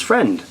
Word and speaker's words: Vren: pronounced as friend.